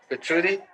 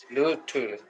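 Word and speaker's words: Albert Luthuli: And I'm sorry, I can't pronounce his name. Albert Albert Lutrudi. Bertrudi? Lutrudi. Lutrudi.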